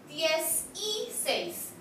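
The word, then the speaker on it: dieciséis: Be careful to pronounce the E in the middle as an I. 10 y 6, 10 y 7, 10 y 8, 10 y 9.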